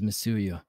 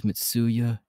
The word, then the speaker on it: Mitsuya: even trying to hurt you anyway name is mesuya misuyu don't interrupt me i'm trying to introduce myself as i was saying my name is mitsuya nice to meet you there's a lot